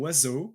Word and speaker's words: oiseaux: We call them oiseaux, which makes a lot of sense because Y is always pronounced OI is always pronounced wa, O is always pronounced O, and an S between 2 vowels is always pronounced Z, I think.